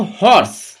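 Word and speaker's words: horse: দেখো আমরা উচ্চারণের ভিত্তিতে যদি দেখি কি হবে, দেখো ইউনিভার্সিটি, উ মানে 29টা উচ্চারণ হচ্ছে। 29টা কি? ব্যঞ্জন বর্ণ, তাই সেক্ষেত্রে কি হচ্ছে? এ। দেখো হর্স, আগের দিন আমরা নিয়মে পড়েছিলাম যে প্রথম অক্ষর,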